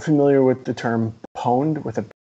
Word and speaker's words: pwned: familiar with the term pwned with a p well pronounced owned but with a p spelled owned but with